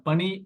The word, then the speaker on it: பணி: எப்படி தப்பு வரும்னு புரியுதா ரெண்டும் ஒரே உச்சரிப்பு தான் இங்க மூணு சுழிதான் இங்க ரெண்டு சுழிதான் பணி அப்படின்னா ஒர்க் வேலை இந்த